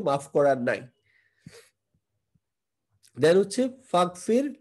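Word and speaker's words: فاغفر: তো ইগফির এর সাথে আপনি যদি ফা একসাথে মিলায় পড়েন, তখন কিন্তু এই যে হামজাটার উচ্চারণটা আর হয় না, তখন এটা ইয়া হয়ে অ্যাসিমিলেট হয়ে বা একত্রিত হয়ে এটা হয়ে যায় ফাগফির।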